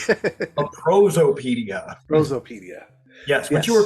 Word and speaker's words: Prosopaedia: Did I pronounce that correctly? A Prosopaedia. Prosopaedia.